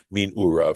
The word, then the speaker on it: מנעריו: Amar Rabbi Yud, said Rabbi Yud, min arav, okay, or min urav, this word which is pronounced min urav, from his youth.